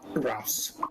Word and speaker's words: Rouse: I remember asking him in one of the previous championships how to pronounce his surname, and it's like house with an R. So it's Rouse.